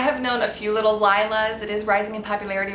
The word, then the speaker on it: Lila: that means night tasneem can also be pronounced Leela and is actually the word for purple in German I really love that I have known a few little Lila's it is rising in